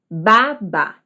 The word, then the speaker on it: babá: Agora, a outra, que tem acento agudo, lembrando, se pronuncia da seguinte forma: babá, babá.